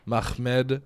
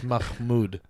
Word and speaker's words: Mahmood: This is a story of Mustafa Mahmed Zed. I lived with a Muslim family. I got good at pronouncing their names. Well, actually, it's Mahmood, actually.